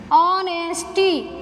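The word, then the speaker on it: honesty: ओ, ठीक है, ऑनेस्टी।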